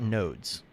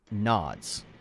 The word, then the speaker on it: node: um they're talking about nodes okay now n-o-d-e is pronounced node this entire video they're saying nods okay now this guy